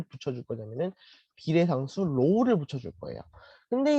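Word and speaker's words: ρ: 이거를 로우라고 읽어요. 로우.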